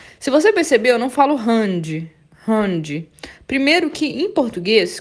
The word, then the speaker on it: Hand: E o D no final vai ter som de T. Vai ser explodido. Hand, hand, hand. É assim a pronúncia, tá, gente?